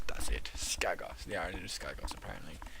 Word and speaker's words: Skagos: I'm gonna make sure I pronounce it correctly. Skagos, that's it. Skagos, the island of Skagos, apparently, which is an island full of cannibals.